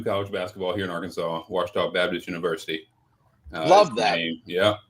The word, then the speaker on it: Ouachita: Ouachita. Yeah, Ouachita.